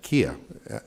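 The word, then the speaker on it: Mina Kiai: And our first panelist is Mina Kia. And am I I'm pronouncing that am I proning correctly? Ki. Ki. Okay.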